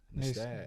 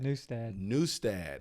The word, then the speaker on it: Nustad: have Mr newstead new stad yeah so I've been saying that I know I've been telling a lot of people that's that new stat we pronounce it wrong because we Americanized it oh the actual way